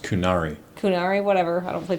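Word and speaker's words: Qunari: it's pronounced kunari kunari whatever I don't play Dragon Age so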